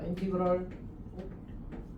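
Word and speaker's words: integral: 이걸 뭐라고 읽었지?이 발음에 대해서는 사실 여지가 있거든. 근데 이제 선생님은 보통 인티 그럴이라고 있습니다. 어메리카 스타일이네. 자, 중요하지 않습니다.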